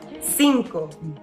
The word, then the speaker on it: cinco: Cinco. Cinco. Cinco. Cinco. Cinco. And you'll notice C-I next to each other, that makes a S sound.